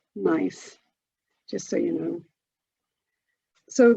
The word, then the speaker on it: Gneiss: So that's a nice kind of florally pattern, and that one's called, and it's spelled Gneiss, but it's actually pronounced Gneiss, just so you know.